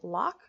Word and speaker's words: LOC: out that balance now Locke is pronounced Locke because you're locking your future in place with this habit I very much connect